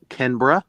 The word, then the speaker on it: Canberra: She even corrected me too on how to say Aussie, and then the city is pronounced Canberra.